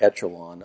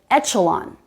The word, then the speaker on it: echelon: So he said echelon with the CH sound. Also a good guess. Also not the way that word is pronounced. So that word only has one pronunciation listed in the dictionary, and it's echelon.